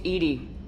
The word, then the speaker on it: EDI: have a specific inquiry why are you named Edie Ed is the phonetic pronunciation of Eed that is an acronym for